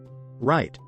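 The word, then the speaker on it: REIT: managing those properties yourself what is a right right rhymes with sweet stands for Real Estate Investment Trust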